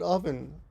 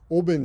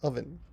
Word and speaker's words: oven: Some things like a hot oven are too hot to touch. 発音ね、oven. Oven じゃなくて oven.